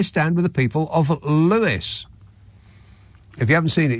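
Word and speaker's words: Lewes: and James says the town of L is pronounced Lewis not l L yeah now I was talking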